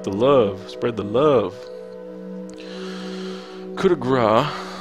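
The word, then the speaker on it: coup de grâce: He didn't say it like that, but coup de grace is how you say that to Queen Goma.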